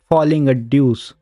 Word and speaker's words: Folie à Deux: it's in the title it should pronounce falling a dece that X doesn't mean anything over there without a